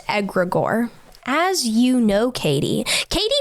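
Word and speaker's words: egregore: other people were using the idea of an aggregor.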